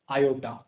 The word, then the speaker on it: iota: So that's why this number is called as imaginary number, okay, denoted by iota या simple i। इसको pronounce कैसे करते हैं, iota।